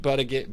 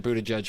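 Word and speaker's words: Buttigieg: pretty straightforward like don't do it like Pete butter get Buddha gig how do you pronounce it yes thank you I apologize to Mr Buddha judge for my uh my stupidity but he's a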